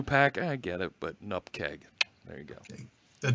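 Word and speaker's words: nupkg: This thing right there, you called it a new pack? Nupkig. How there am I we to go. Say that? Yep. A nupkeg, nup isn't it? The right pronunciation. Absolutely. That's what David Fowler says it should be.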